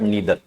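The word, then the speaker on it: neither: नाइदर बोलते हैं, नाइदर सुना का, बट नीदर, नीदर नोर इधर और। ठीक है। आइदर जैसे आइदर और बोल देते थे, नाइदर नोर बोल देते थे, but actual pronunciation is नीदर, नीदर नोर और इधर और।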